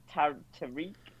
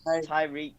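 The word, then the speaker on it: Tyrick: Tariq, I don't know how you say it. Tyreek, that's it, Tyreek.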